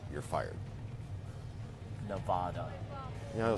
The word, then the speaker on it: Nevada: if you ever say Nevada you're fired Nevada you know some people say Nevada it's nevada nevada what was the joke ahead